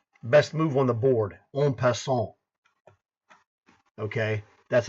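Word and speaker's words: en passant: move on the board on P okay that's how you pronounce it it's a French phrase means you take him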